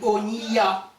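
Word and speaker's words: אוניה: Dans Onia, bateau. Un bateau, on dit Onia. Alors c'est Oni, Ya, 2 syllabes.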